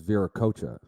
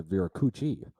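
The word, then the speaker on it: Viracocha: gave me this name my Xbox gamertag is veracocha but whenever I get into a Lobby everyone pronounces a veracoochie so my only my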